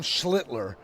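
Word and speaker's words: Schlittler: Um, it's Cam Schlitler.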